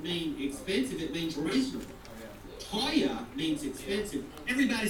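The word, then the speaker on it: teuer: price bet doesn't mean expensive it means reasonable Toya means expensive everybody say Toya to who can spell it for me raise your hand spell it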